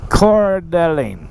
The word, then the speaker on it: Coeur d'Alene: over here in the city of can you pronounce that Cora D Alene dear darling Coeur d'Alene I don't know I was trying to ride